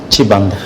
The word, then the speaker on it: Chibanda: J'ai bien prononcé Sibanda ou Chibanda? Chibanda.